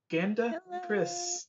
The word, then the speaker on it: GandaKris: I'm Jesse, or Game Over Jesse, and here with me is a very special guest for the first time, GandaKris. I didn't want to Mispronounced it.